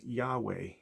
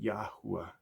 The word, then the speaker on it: Yahweh: Some people pronounce his name Yahweh, while others pronounce it Yahuwah.